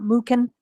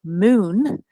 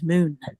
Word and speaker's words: MuKn: The K is silent. So for those of you on the call, it's not MuKn, it's MuKn. And for those of you watching the replay, it is MuKn.